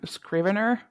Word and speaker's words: Scrivener: So I use the program Scrivener. How to hmm pronounce it?